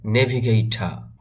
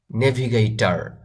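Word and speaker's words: navigator: এই ওয়ার্ড বা শব্দটিকে আপনি এভাবেও বলতে পারেন নেভিগেইটা। ব্রিটিশ বা আমেরিকান যাদের ভাষা ইংলিশ তারা অনেক সময় দেখবেন এই আরটাকে সাইলেন্ট রাখে, বা গুগল ট্রান্সলেট থেকে যদি আপনি শুনেন তাহলে দেখবেন যে নেভিগেইটা এই আরটাকে বলে না, এটা সাইলেন্ট রাখে। সেক্ষেত্রে আপনি বলতে পারেন নেভিগেইটা। অথবা যদি এটা বলতে আপনার হার্ড মনে হয় বা কঠিন মনে হয় তাহলে আপনি নেভিগেটর, নেভিগেটর এভাবে বলতে পারেন।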